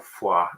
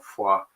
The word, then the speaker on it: Foy: And we have appreciation coming in from Mark for General, so it's General Foy, actually, I believe is the French pronunciation, General Foy, who you'll remember I said was commanding at the Chapel of Nuestra Senora de la Peña.